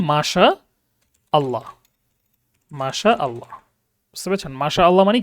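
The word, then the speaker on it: ما شاء الله: আমরা বাংলাতে একদম সবাই সমান তালে লিখতে থাকি যে কিভাবে লিখি? মাশাল্লাহ। মাশাল্লাহ। তাই না? এভাবে লেখা যাবে না। এটা তাহলে ভুল উচ্চারণ আর কি। লিখবেন মাশা আল্লাহ।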